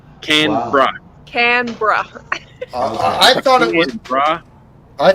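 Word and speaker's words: Canberra: the east coast of Australia CRA it's CRA canra canra canra I thought it I thought it wasb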